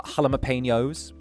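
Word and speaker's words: jalapeños: Uh, halapenños.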